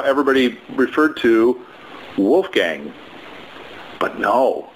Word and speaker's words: Wolfgang: what it seems like he pronounced it was Wolfgang so it's the gong instead of gang yang that's like an